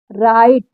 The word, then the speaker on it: right: आगे देखिए राइट, RIGHT राइट, नाइट, नाइट NIGHT नाइट, ठीक है।